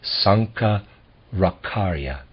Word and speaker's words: Sankaracarya: I'm gonna pronounce that Sanka rock aria we will pay less